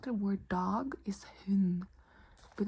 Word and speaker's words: hund: Also, like the word dog is hund, but it's written H-U-N-D, but we don't pronounce the D.